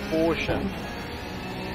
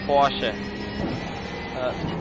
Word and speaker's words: Porsche: German lesson for you, the real German pronunciation for the car I'm currently riding in is Porsche, or Porsche. Porsche is more or less the English version, but if you want to have it German perfectly right, that is Porsche.